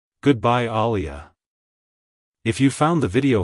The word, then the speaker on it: Alia: pronounced as aliia aliia Alia to pronounce it correctly emphasis ize the second syllable Lee and maintain a soft uh sound at the beginning avoid stressing the first syllable too much like hello Alia goodbye Alia if you